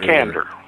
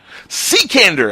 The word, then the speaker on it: Cekander: Cekander. Cekander! I was so far away from that. Yeah, just the way it looks, Cekander.